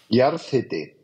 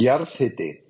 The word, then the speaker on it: jarðhiti: Jarðhiti. Jarðhiti. Yeah. Where hiti is pronounced like the tool brand Hilti without the L, or like hit with an I at the end.